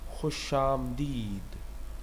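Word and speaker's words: خوش آمدید: Khushamdeed.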